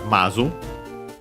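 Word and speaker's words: まず: what then we have mazu uh First accented on the first of the first moa uh high low uh first of all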